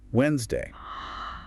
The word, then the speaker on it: Wednesday: So that D is just gone. Completely silent, yeah. In standard pronunciation. And those middle syllables, they just compress.